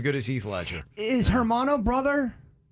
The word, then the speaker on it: hermano: as heath ledger is hermano brother so the h is silent a bit yeah okay so if